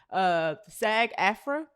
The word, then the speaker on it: SAG-AFTRA: SAG-AFTRA, that's how you pronounce that, right?